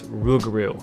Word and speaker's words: Rougarou: okay just in case you're wondering how to pronounce this word it's rugru but yeah it's a name all right just one question what the heck is a Rougarou well apparently rubaru is basically French for a werewolf which I